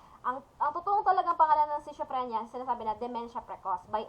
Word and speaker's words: schizophrenia: So, what are the symptoms of having a schizophrenia?